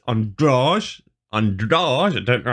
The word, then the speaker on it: Andrade: just listened to embedded and uh anik was pronouncing it on george so yeah i i was saying andrade oh well it's not it's androg on doors i don't know how to get that but